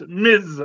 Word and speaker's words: Ms.: and it's Spider-Man and Miss Marvel for Ms. Marvel, Phil. Oh, did I say Captain or? No, you said Miss. Oh, sorry. Yes. Don't be diminutive. It's pronounced Ms. Marvel with a Z.